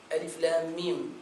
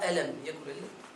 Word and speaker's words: الم: Alif, s'arrêter un moment.